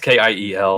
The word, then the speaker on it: Kiel: It's not Kevin. It's Kyle. And when you spell it Kyle, it's not Kyle. It's not. It's stupid. Yeah, it's Kiel.